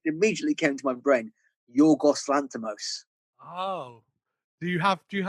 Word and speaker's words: Yorgos Lanthimos: Yorgos Lanthimos. Oh, do you have like, Is that how you pronounce it? Yeah. Did I fuck it up? As a Greek man, Yorgos Lanthimos is a perfect pronunciation.